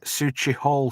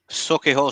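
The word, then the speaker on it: Sauchiehall: Brian says, I saw the bloke from the Crankies, that'd be Ian Cranky then, in Suchi Hall Street. Did I pronounce that right, Melv? Socky Hall Street.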